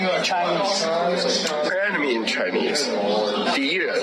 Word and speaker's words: 敌人: 敌人. How do you say it? 敌人. D what? 敌人. Diana.